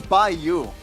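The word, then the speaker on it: by.U: but you don't say the dot. The dot is silent?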